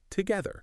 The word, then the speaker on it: together: The pronunciation tip focuses on the syllables. Together. Together. And the vital part is that the sound again. Just like in mother and father, it is a soft, vibrating th.